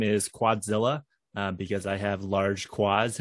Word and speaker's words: Quadzilla: It is kind of long, you know, Quadzilla. That's three syllables.